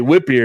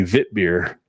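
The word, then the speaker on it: Witbier: Like people say, whip beer is actually vit beer. Yeah. That's how it's actually.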